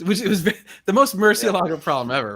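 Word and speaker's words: Murciélago: So you pronounce the I and the E is the hard part, Yeah.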